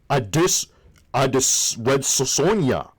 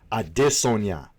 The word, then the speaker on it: Adesanya: We have Israel, as Luke Thomas would say, I dis Red Sonia. I believe how you say it is Adesanya.